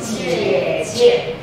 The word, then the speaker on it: 姐姐: 姐，OK，姐，neutral tone is the second one。Neutral tone never comes in the first part of the syllable. So, 姐姐 okay. Look at my gesture. 姐姐 just relax. Okay. 姐姐 younger sister.